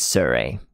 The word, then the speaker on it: Sirui: I'm going to be calling them Surrey. Thank you for not correcting me, guys. Amazing. Wow. So helpful. yeah. Okay, Sirui. So I'm not the only one who's saying it wrong. Well, apparently we're all saying it wrong. It's Surrey.